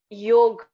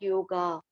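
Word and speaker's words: योग: Yog. Yog, there is a word of the yog. The pronunciation is yog, not yoga.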